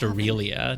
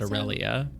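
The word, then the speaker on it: Aurelia: hear aelia is pedling oh it's pronounced Orelia not aelia perhaps you could talk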